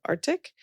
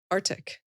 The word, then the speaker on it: Artyc: One of them is a company in our portfolio called Arctic.